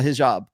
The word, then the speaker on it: hijab: But like, to wear a hijab, I'm sorry if I'm mispronouncing Hijab.